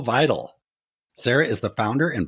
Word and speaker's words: Vidal: It's vital.